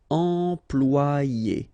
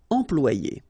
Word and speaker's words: employer: Employer, remember, E-M, and then after that you've got a consonant, so it's, here, it will be a nasal, so it will go like en, employer, employer.